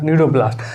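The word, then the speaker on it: cnidoblast: type का cell है ये सी इसमें साइलेंट होगा नीडो ब्लास्ट अगर इस नीडो ब्लास्ट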